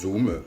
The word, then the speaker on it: Zoom: Bien sûr, il existe des outils disponibles en accès libre et gratuit et simple d'utilisation comme Zoom, comme ça se prononce, Zoom, Z2OM, Skype, Webex ou encore Framatalk.